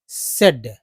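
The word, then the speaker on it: said: एड एड एड बोलते हैं तो एस को स बोलते हैं तो स प्लस एड सेड। ठीक है? स प्लस एड सेड हो गया। सेड एक्चुअली यह उच्चारण है।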